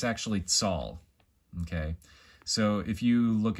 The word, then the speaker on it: Tal: And actually, it's spelt out tall, but it's actually tsal, okay?